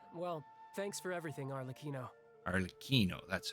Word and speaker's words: Arlecchino: right all right well thanks for everything arino arino that's how it's pronounced no thanks necessary you also played a